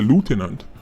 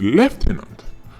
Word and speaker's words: lieutenant: It's just that in America, them say lieutenant, but the British saying is lieutenant.